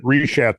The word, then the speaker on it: Richat: When you're talking about the Richat structure, Richat structure, I think it's a soft C. Yeah, that's it. That Richat.